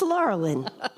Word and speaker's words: Laurelyn: brothers, of course, and they used to call me Laurel and Hardy, which is a really good way to remember how to say my name.